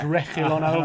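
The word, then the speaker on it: Reguilón: It's Reguilon.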